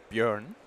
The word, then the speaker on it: Björn: How do you pronounce it? Bjorn. Bjorn.